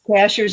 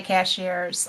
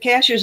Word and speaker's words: Cashiers: Cashers is spelled just like a cashier at the grocery store. And I But still say cashiers. I know it's not, and I still Cashers is the way the natives say it, and it's a